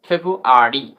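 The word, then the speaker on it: February: দ্বিতীয় নম্বর রুলসটি হল কিছু শব্দে আর খুবই হালকা অলমোস্ট সাইলেন্স ধরা যায় খুব সাউন্ড হয় যেমন ফর এক্সাম্পল ফেব্রুয়ারি বাংলা দিকে ফলো করো এফ ই বি আর ইউ এ আর ওয়াই ফেব্রুয়ারি ফেব্রুয়ারি আমরা ফেব্রুয়ারি ফেব্রুয়ারি নয় ফেব্রুয়ারি এরকম উচ্চারণ হবে এরভাবে লাইব্রেরি এল আই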